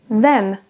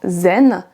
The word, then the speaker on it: then: Ce son-là est difficile pour nous à prononcer et les Français vont souvent avoir tendance à prononcer un son Z à la place. Then se transforme donc en zen et this en this.